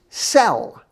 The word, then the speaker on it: sel: word salt salt is cell it sounds like you're going to sell something or a prisoner in